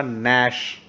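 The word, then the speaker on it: gnash: नाउ तो य देखिए the letter ji is silent in the highlighted words य जो हाइलाइटेड वर्ड्स है ग्रीन कलर के इनके अंदर जी साइलेंट है दोनों में हमने इसको पढ़ा नश है ना जी को साइलेंट करके पढ़ा जी हमने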